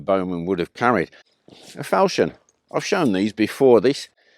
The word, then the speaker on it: falchion: A nasty piece of work, but yeah, I call it a falchion. I've heard it pronounced falchion. Well, I don't care. It's just a falchion to me.